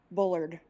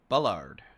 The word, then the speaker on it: Bullard: be super super specific Bullard or Bard is pronounced Bullard Bullard thank you from Christa